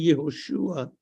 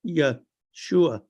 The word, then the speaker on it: Yeshua: Whereas the name Jesus is not really Yehoshua. It's, skip the H-O, it's Yeshua. It's a yod with a schwa, Shua, Yeshua. Okay, it's Yeshua. And it's one word, Yeshua. Yeshua. Put the accent on the end.